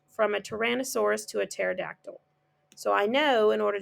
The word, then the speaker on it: pterodactyl: And at the end, I have to choose the pterodactyl, which starts with a P. Okay, the P is silent. Pterodactyl.